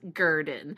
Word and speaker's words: Gurdon: talking about giran and I'm 99.99% sure it's pronounced giren because I watched enough videos the last you know couple weeks or actually longer than that yeah at least that's what they pronounced it on the Unsolved Mysteries clip so yeah well if we're wrong let us know but giren is in